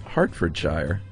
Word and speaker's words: Hertfordshire: Hertfordshire is pronounced Hartfordshire. Oh, we were way off. I admit it, it isn't spelled H-A-R-T, but then that is just the English language for you.